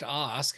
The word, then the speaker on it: Ask: thought that was they had you list as Ask. Is there something else that I'm missing on that? Well, and it's actually pronounced OSK.